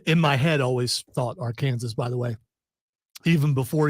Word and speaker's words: Arkansas: does say Celtics but does he really say are Kansas too uh here's what I will say about that tournament is how that word is correctly pronounced Celtics is what the word is AR Kansas I just say to be a smartass because it bothers people from Arkansas that's the only reason